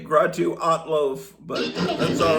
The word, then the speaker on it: Grottu Orloff: Stay tuned to the Grottolo show here in KIF radio. Okay, he mispronounced my name. Gratu Alo, but that's all right.